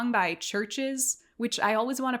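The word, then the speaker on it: CHVRCHES: I looked it up it's a s by Churches which I always want to pronounce ches because they spell it instead of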